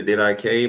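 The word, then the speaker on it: Didache: Some people pronounce it a Did I K, but I say Did I Cheat because that's how it's spelled to me.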